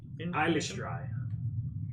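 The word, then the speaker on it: Eilistraee: Eilistrai.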